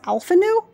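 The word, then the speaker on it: Alphinaud: and alfino if you would his name is pronounced alphanu alphana so wait are the ds silent also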